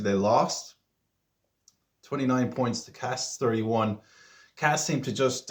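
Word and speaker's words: Castres: I thought it was pronounc Castra.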